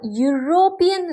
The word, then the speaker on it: European: having consonant value so there are some words that start with a vowel letter like U or E have consonant sound when pronounced in these cases we use a for example a university a unique article a European language next is with units